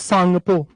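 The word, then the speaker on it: Tsangpo: Hinge रेखा या English में इसको कहते हैं इंडस सांगपो तसांगपो लिखा जाता है। जैसे सांगपो हम उच्चारण करते हैं। टी साइलेंट होता है।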